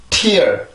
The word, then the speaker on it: tear: 그러면 tear, tear, tear.